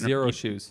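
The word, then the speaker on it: Xero Shoes: they make these shoes that feel like they're zero shoes zero shoes yeah with like a as an x so it's pronounced like that i think they made a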